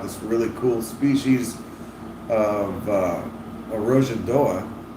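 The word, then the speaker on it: Arrojadoa: And we talk about this really cool species of Arojadoa. Got to pronounce that in that Portuguese. Arojadoa that was discovered, and then like immediately the habitat was destroyed.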